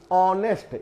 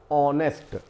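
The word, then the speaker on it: honest: एन ए एस टी ऑनेस्ट यहां पर ऑनेस्ट नहीं बोला जाता यानी ह जो है ये साइलेंट होता है लिखा जरूर गया है लेकिन पढ़ा या बोला नहीं जाएगा इसका उच्चारण होगा ऑनेस्ट इसके पहले भी हम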